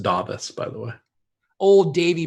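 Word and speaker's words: Dāvis: Burton's 5% then Luke corn novice its it's pronounced da bus by the way old Davey Burton's that Luke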